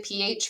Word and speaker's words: pH: Next week we'll learn how to calculate the pH from a solution. But for now, um, we're just going to learn what it means. So, pH, notice that it's pronounced PH, just letter P, letter H.